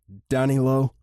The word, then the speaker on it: Danilo: I mean, I know exactly what you mean, Danielo," Soren said with an exasperated tone. God, Danny loved it when Soren used his full first name, saying it like it was meant to be pronounced. Danilo.